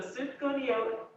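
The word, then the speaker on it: sufganiyot: just search to go to yolk recipe i'll spell it for you s u f g a m i y o t so super conio recipe it'll probably be the first one that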